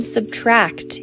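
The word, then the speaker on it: −: Ed Sheeran announces the release of his new album '-' (pronounced Subtract) and reveals in a press release that a lot of pain and hope were the inspiration for the album.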